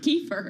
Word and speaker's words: kefir: If you've ever had Keir Lifeway Foods, we're going to ask how to pronounce it. Kefir, apparently, um she's working to push back on a takeover attempt from a larger rival.